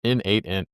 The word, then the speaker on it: n8n: here, since there's undoubtedly going to be an N8n debate. It means nodemation, or it's pronounced N8n.